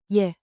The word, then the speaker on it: je: Say it like a quick, soft yay, yeah, with rising intonation, think two ascending notes.